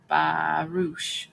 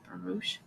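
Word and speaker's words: Baruch: Bernard Barouch, I think it's pronounced Baroo.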